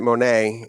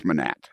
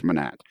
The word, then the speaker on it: Monat: I had heard that you pronounced it Monet, and even though he was in the green room, he screamed down the hallway and told you that was incorrect. Yeah. So, of course, with me, well, now you've just pushed the button, buddy. I wouldn't do it, except he's got a good personality and he can take a joke. But it is Monat. The proper pronunciation of Phil's name is Monat.